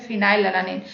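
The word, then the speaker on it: phenylalanine: क्योंकि जब हम इसको प्रोनाउंसिएशन करते हैं तो F आता है स्टार्टिंग में, इसलिए फिनाइल अलानिन।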